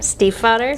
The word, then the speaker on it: Stiefvater: STIEFVATER.